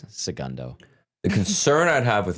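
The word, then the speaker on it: El Segundo: In Elsa Gundu. Okay. Okay. And I didn't say it right. I said Elsa Gundu. It's Sagundo.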